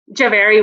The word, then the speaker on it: Jhaveri: excited to have here with us today javeri or javery how do i pronounce that javari was perfect very okay wonderful thank you so